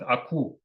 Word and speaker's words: Aku: You pronounce it Aku. It means white swan.